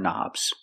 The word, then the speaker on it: knob: You push buttons and you turn knobs. We see the word knob has a K, and the K is silent. Don't pronounce the K. Start with the N sound, knob.